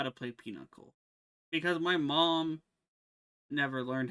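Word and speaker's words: pinochle: modified deck um oh it's spelled like Pinocchio but it's not it's peanuckle peanuckle yeah you know how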